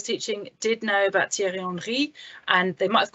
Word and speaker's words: Henry: did know about thierry henry and they might have called him thierry henry but then it wasn't r they knew it wasn't henry so they knew that the h wasn't pronounced and i knew it